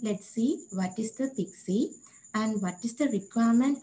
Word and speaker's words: PKCE: for code exchange so we can pronounce it as pixi so in this following